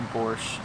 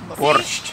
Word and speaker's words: borscht: How do you say borscht correctly? without the T at the end and a little trill in your R. Borscht. You Borscht. just added the T. Borscht. Borscht. Borscht. A little bit. Borscht.